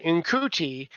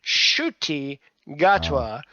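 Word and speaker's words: Ncuti Gatwa: she was like well at first she said in couti and she found out that it's pronounced shy gatwa and and then I saw him on the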